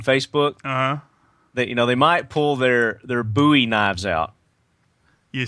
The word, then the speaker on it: Bowie: They might pull their Bowie knives out.